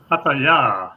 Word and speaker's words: Pattaya: In fact, the host of the video asked a Thai girl, "How do we pronounce this word?" And her response, Pattaya.